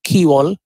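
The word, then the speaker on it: quay wall: bar break water key wall which is actually pronounced as key wall uh then there are terms called as dredging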